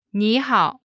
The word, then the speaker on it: 你好: When there are two third tones in a row, the first one changes to the second tone.